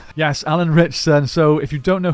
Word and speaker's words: Ritchson: that how you say his name yes Alan richson so if you don't know who he is